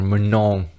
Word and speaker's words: Manon: Manon, or Manon, if you want the proper pronunciation.